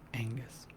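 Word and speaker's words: Aonghas: G H A S, which oddly enough is pronounced Angus.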